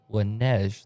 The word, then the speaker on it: Laneige: the 3-yard carry by Laneige. That's how the PA guy is pronouncing it. I am 100% certain he is right. It is the Paragould PA guy for a Paragould team.